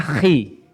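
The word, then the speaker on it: χ: Bacanya khi.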